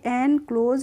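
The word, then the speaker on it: enclose: सी एल ओ एस तो न को हम पढ़ेंगे एन और सी एओ एसई को पढ़ते हैं क्लोज क्या पढ़ते हैं क्लोज पढ़ते हैं तो इसे हम पढ़ेंगे एन क्लोज और एन क्लोज का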